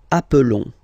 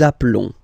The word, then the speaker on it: appelons: Nous appelons, and then little link would be perfect, so let's pronounce the whole thing again. Nous nous appelons. Nous nous appelons. Okay, final S doesn't exist.